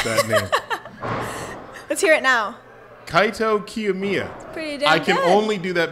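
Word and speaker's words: Kaito Kiyomiya: Mia yeah - oh is that so well Kaito cue Mia yeah I I fell down a flight of stairs trying to pronounce that let's hear it now kai Tokyo Mia I can only do that because I'm repeating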